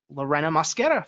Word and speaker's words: Lorena Mosquera: So with that out of the way, today's guest is Lorena Mosquera from LW&H Business Solutions. Lorena, say hi. Let the audience hear your voice. Hello, everyone, and you got the name pronunciation pretty right on.